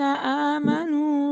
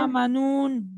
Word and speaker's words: آمنوا: لفي خسر إلا الذين آمنوا وعملوا الصالحات وتواصوا بالحق وتواصوا بالصبر إلا الذين إلا الذين آمنوا آمنوا. وعملوا Don't say الصالحات. آمنون. Do not pronounce the letter noon at the end.